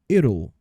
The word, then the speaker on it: it'll: Perceba então que a pronúncia dele é assim, ó, it'll.